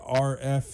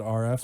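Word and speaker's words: Arif: So I always say R.F. is the way to say that first name. It's actually A-R-I-F, but you pronounce it R.F.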